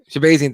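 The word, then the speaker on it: Shahbazyan: Shabazian, thank you.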